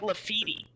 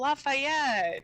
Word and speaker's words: Lafayette: i thought it was they pronounced it like lafitti it was something atrocious like we we didn't get it until we saw it written out yeah and we're like oh lafayette that's how you're supposed to be lafitti it